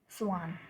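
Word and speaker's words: Schwann: scientist हुए slayed and स्वान ठीक है ठीक है इसमें सी एच सी एच जो है दोनों में ये साइलेंट है ठीक है इनके नाम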